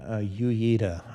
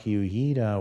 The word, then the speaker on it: Uyeda: That's Mark, and how do you pronounce that name? Uyeda, I would say.